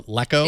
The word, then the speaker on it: LeEco: LeEco or LeEco? It's LeEco. Oh, is it? Yeah. Seriously? We'll have a discussion. Okay, LeEco. It's the first time I've heard it pronounced that way.